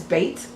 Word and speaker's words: Bet: So the second letter is Bet, which is a B sound. Let me point it out up here. So this is Aleph. This is Bet, right here. And Bet is actually, I'm sorry, this is Bet.